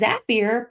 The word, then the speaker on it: Zapier: Zapier or Zapier? It is Zapier, pronounced like happier.